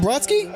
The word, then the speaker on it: Brodsky: Stephen Brodsky?